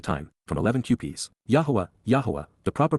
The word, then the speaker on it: Yahweh: Yahweh. The proper pronunciation of the name of Eloha, God as directed in his Torah teaching regarding his ha existence in our shalom.